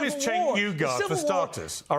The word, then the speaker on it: Cenk Uygur: His name is Cenk Uygur, for starters.